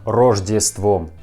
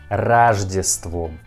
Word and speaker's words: Рождеством: And again, we pronounce letter O in Russian word Рождеством like A, not Рождеством. We pronounce like Рождеством.